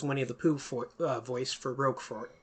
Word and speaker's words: Roquefort: But it's French. They don't pronounce the T at the end. It's just got to be Roquefort.